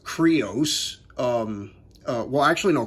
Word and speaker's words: Crius: again blade blaster cries cannon crius is actually pronounced creos um uh well actually no cries means creos